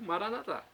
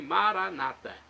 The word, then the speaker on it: Maranata: como sou eu né eu digo maranat e tem os nossos irmãos protestantes ou evangélicos que dizem Maranata maranat Maranata não importa a pronúncia o significado é o mesmo vinde Senhor Jesus vem